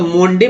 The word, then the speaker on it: Monday: अब देखिए MONDAY, तो ओ का उच्चारण यहाँ पर ओ होता है तो मोंडे पढ़ते हैं, मोंडे गलत होता है ना, हम लोग पढ़ते हैं मंडे।